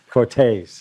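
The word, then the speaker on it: Cortez: how to remember to how to say it which is taser yeah only without the ER the uh yeah you just say taste yeah Cortes yeah this is definitely a testament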